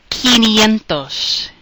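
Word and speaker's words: quinientos: up a little bit kentos kentos is how you say 500 remember that Qi sounds like key like when we used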